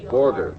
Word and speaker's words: Borger: Barger. Well, anyway, this is the most mispronounced city in the country, folks. This is Barger, Texas? How do you spell it there? Oh, Borger. B-O-R-G.